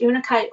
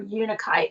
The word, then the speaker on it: unakite: plants would be unaki or it's about pronounced unakite or unikite it's u-n-a-k-i-t-e or green agate or